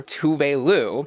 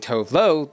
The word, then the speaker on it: Tove: The judging panel today was joined by Swedish pop star Tove, as RuPaul pronounced her name not once, but twice, which kind of shattered my entire reality because I, a peasant, had just been saying Tove the entire time I listened to her music.